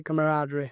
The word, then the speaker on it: camaraderie: Camaraderie.